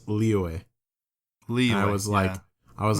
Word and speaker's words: Liyue: I remember I used to be so proud whenever I learned that I could officially pronounce Liyue. Liyue.